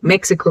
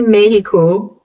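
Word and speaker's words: México: You probably, if you're a native English speaker like me, would go, oh, Mexico, right? Nope. It's actually Mexico in Spanish.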